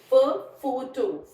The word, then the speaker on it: photo: PH is pronounced as फ, फ. Photo, photo, PH, photo, phone, phone.